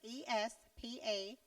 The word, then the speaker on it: espadrilles: Okay, it's ESPADRILLES. So I believe that's how it's pronounced, espadrilles.